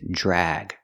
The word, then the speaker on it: drag: have drag and Drug drag has a short a sound like bag and Black Cat the word is drag the Dr makes a JJ sound plus e r JJ drag